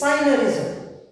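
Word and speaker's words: synergism: Please note, G is silent there. So it is cyanurism. S-Y-N-E-R. G is silent. R-S-M. Cyanurism.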